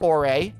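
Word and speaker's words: Orre: I know that Ouray, it's officially pronounced Ouray, don't at me, was Arizona.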